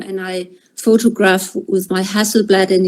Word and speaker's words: Hasselblad: utilizar su máquina Hasselblad, no sé cómo se pronuncia en alemán, la cámara, José. Está bien, Hasselblad.